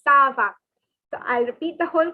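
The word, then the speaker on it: ça va: so it is como the next is saba okay so it's not a kaabah or it's not anything else it is sir saba please remember sava so i'll repeat the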